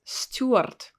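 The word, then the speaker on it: стюард: of course and so here we have again this sound ooh with a softened consonant stu stuart stewart here is the letter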